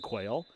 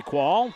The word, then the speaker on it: Quall: I have an inside dope that I have been pronouncing it incorrectly when I was saying quail. So it is Ellie Ellery Quall and she gets an ace.